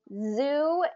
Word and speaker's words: zoo: So like zoo and Sue, like the name Sue, Sue and S-U-E. Yeah, S-U-E and zoo. We have the same mouth position for both of these sounds.